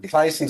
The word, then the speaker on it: Theisen: Dr. Theisen or Tyson spelled like Theisen, but my path to here, perhaps a bit less momentous than Dr.